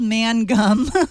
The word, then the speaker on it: Mangum: He says it's spelled mangum, but it's like mangum.